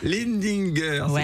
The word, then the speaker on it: Lindinger: Non, vous allez apprendre à le prononcer, puis c'est tout. Lindinger, ouais, c'est comme ça qu'on dit.